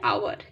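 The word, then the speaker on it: hour: তো ও যেহেতু ভাওয়েলের উচ্চারণটাই হচ্ছে, তাই জন্য এখানে অ্যান হবে। We will come home an আওয়ার, ঠিক একইভাবে আওয়ার।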